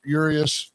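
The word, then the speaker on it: Urías: And you got the now you got the Ramon Urius. That's that's how they say it is Urius.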